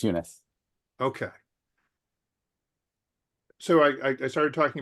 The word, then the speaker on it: Eunice: I wanted to ask our guest, Yunez, is it pronounced Yunez? Would you be able to take a question? Oh, hello. Yes, it's Eunice.